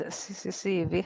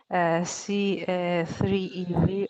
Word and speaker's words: CCCEV: pronounce ccc ev and the official uh pronunciation is cccv however different alternatives were represented such as c a three e v or c a cube ev since we are uh